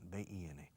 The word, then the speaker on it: bin: En Inglaterra y Irlanda creo que dicen, I think they say, rubbish bin, B-I-N, que suena casi a Benjamin, bin.